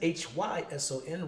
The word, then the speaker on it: Hyson: You can find me online, Facebook, my name, Hyson, Hyson, rhymes with Tyson.